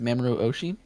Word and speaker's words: Mamoru Oshii: So Ghost in the Shell by the director is Mamoru Oshii.